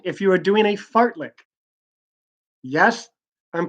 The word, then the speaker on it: fartlek: could spell it yeah I can do that fa RT l EK sar t le k to pronounce fartlek so yeah it sounds like fartlek